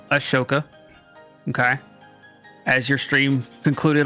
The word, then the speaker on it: Ahsoka: It's not Ahsoka. It's Ashoka.